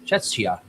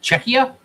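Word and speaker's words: Czechia: We're both pronouncing this wrong. I know. Yeah. C Z E C H I A. Check. Checka. Checka.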